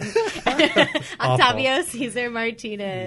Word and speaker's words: Octavio Cesar Martinez: You got to roll the R.